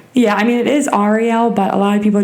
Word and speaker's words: Arielle: you say your name Arielle are you serious yes so so what if I call you Ariel no okay so it's like a like a aunt aunt type thing yeah I mean